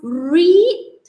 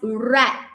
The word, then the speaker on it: read: For past tense, are we going to read as read? No. The past tense, we pronounce it as read.